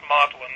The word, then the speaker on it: Magdalene: Cambridge is actually written Magdalene Magdalena College but pronounced Modellin that's the way that the Brits sometimes strange ways of putting words out.